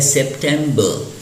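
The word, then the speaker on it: September: जैसा कि आप सामने देख रहे हैं यह सेप्टेंबर और लास्ट में जो आर है वह प्रोनाउंस नहीं होता है तो इसलिए हम इसको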